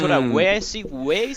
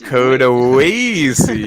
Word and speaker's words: Coda Wassie: We're arguing how to pronounce it. Actually, it's Coda Wassie. Coda Wassie.